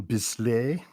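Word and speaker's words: Bisley: s sounds Italian Simon B how do you pronounce it I guess B yeah I know you're right you're right um Simon bisle thank you uh Bernie Rashon Jim Steno estan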